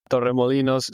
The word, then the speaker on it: Torremolinos: of this location, because he can rule the R's and say it properly, where I will absolutely butcher it. What's the town in Spain? Yeah, so we have the WTCS Grand Final in Torremolinos, Spain.